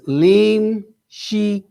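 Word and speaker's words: לִמְשִׁיחִי: Okay, and where they're here, you'll see is limshik, right? Or it says limshiki, right? I'll show you where it is. Lim, she, and then ki, 3 syllables there.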